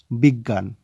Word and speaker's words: বিজ্ঞান: কি হচ্ছে শব্দটির উচ্চারণ বিজ্ঞান তো বিজ্ঞান কিভাবে হলো প্রথমে পেলাম আমরা ব এর রস ইকারে বি তারপরে একটি গ ধরতে হবে এবং তারপরে ধরতে হবে গয় চন্দ্রবিন্দু জফলা আকার জ্ঞা এবং শেষে দন্ত ন তাহলে